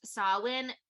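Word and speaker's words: Samhain: name is Sam after s-a-m-h-a-i-n which is pronounced sawin is his name saw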